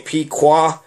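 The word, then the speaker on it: Pequot: the pequa war and it's spelled differently it's p e quu o t but it sounds the exact same pqa pqa same thing so is it possible that the pequa you know of Massachusetts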